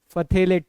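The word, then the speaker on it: phthalate: एक तो है KHP, potassium hydrogen फथेलेट, P silent है, राइट।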